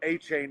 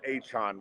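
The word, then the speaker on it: Achane: How did A-Chain become A-Chan when he got to the pros? A-Chan, somebody asked him, and he said, "That's how you say my name."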